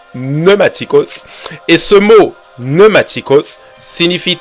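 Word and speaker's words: πνευματικός: mot pneumaticos ça s'écrit pneumaticos mais ça se prononce pneumaticos et ce mot pneumaticos signifie tout simplement les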